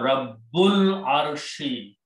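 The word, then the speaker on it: رَبُّ الْعَرْشِ: And when you read together, you do not pronounce this alif in between. Pronounce Rabbul Arshi, Lord of the throne.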